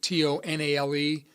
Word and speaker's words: Tonale: I think that's how you pronounce it, Tonale, Alfa Romeo Tonale.